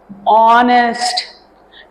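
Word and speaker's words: honest: is used before vowel sounds this you know ऑनेस्ट इट इज़ नॉट ऑनेस्ट एच is silent N अ ओ इज़ a sound N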